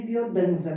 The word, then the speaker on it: Biodanza: dos anos 70, e em castelhano se escreve biodança, mas a pronúncia é biodança.